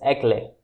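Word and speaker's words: éclat: Eclat, in this the T is silent, so it pronounced as eclat, which means showing a sense of brilliance.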